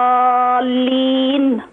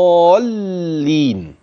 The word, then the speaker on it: الضالين: احسنت يا حاج كريمه عايزين نخلي بالنا من حرف المشدد يبان انه مشدد فين معايا ايضا في كلمه الضالين عشان لما يخفف لا ما ينفعش التخفيف فيه هذا حرف مشدد فنخلص ليكي يا حاجه